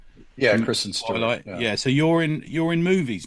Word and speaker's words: Kristen Stewart: Yeah, Kristen Stewart.